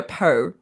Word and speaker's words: Pau: Ambi took me to Poe, it's spelled P-A-U. I don't, someplace. She told Paul Pow. Morand, Pow. Let's go with pow.